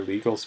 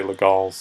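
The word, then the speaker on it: Légal: defender King worst offender Legault made or legals made depending on who's pronouncing it for a long time he did legals and then I heard a bunch of strong players say 'la Gauls and said I'm a snob that says the Gauls sorry 42 in the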